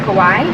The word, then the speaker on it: kawaii: So was that your first introduction into, you said it's pronounced kawaii?